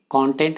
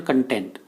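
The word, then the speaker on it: content: आप अगले जो दो वर्ड हैं वो हैं कंटेंट एंड कंटेंट। ये वर्ड बहुत इंटरेस्टिंग है फ्रेंड्स, क्योंकि इन दोनों वर्ड्स की स्पेलिंग सेम है बट इनके बोलने का तरीका, इनका प्रोनाउंसिएशन अलग है, इनकी मीनिंग भी अलग है।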